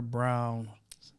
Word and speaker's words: Brown-Deborah: It's Brown-Deborah. The R is silent.